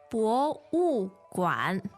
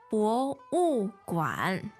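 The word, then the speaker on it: 博物馆: 博物馆，博物馆。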